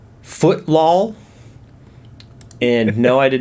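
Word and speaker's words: Footlol: have this game called foot law and no I did not mispronounce that it is actually footlaw f-o-o-t-l-o-l with the l-o-l being capitalized footlaw Epic Soccer League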